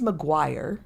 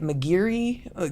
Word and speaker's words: Maguire: Um my last name is Maguire and you wouldn't think that that would be but I get Mcgiri.